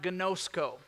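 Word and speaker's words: γινώσκω: know that that word in the Greek is pronounced ganoso can you say ganoso say ganoso there you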